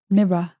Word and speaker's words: mirror: Mirror. Mirror. Mirror. There's no A in it. Mirror. Mirror. It's got 2 syllables, not mirror.